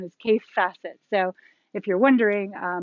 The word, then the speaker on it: Kaffe Fassett: to say it but i believe the correct pronunciation is case facet so if you're wondering uh my husband thought for years i was saying k-a-t-e but it's k-a-f-f-e case facet on to p and b ramblings ramblings is